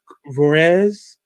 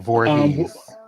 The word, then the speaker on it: Voorhees: Lark Vorez, the Lisa Turtle character. Um, Voorhees.